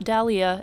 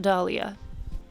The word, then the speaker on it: dahlia: a pink dahlia i just learned it is pronounced dahlia and not dahlia and that is why i totally understand when